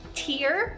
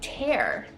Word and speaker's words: tear: Tiene 2 pronunciaciones. Es tear, es una lágrima, o tienes tear, y significa Romper algo en pedazos.